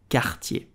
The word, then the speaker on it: Cartier: You will simply say Cartier. Cartier. Cartier. I hope you enjoyed this video about French pronunciation.